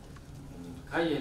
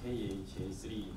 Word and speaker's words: khaiii: 카이에 대해서 말씀을 드릴 텐데요. 카이라고 읽으시면 됩니다. 어떤 분들은 KHA3 막 이렇게 읽으시는데 그냥 편하게 카이라고 읽으시면 되고요.